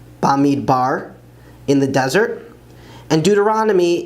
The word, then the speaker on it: במדבר: Numbers is Bamidbar, Bamidbar, in the desert.